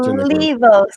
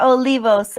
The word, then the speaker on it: Olivos: Um but uh Vashelle is with me and and Olivos is that Michelle, pronounce her name. She's the linguist. Olivos. Olivos.